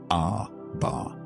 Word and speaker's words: Abba: You spell it A-B-A-R. You say it Abba.